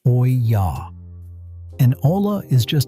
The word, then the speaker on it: olla: The method is called olla irrigation. And if you've never heard that word before, it's pronounced oy-yah.